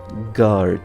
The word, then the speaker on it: guard: pronunciation is security guard guard the U is silent with a guard security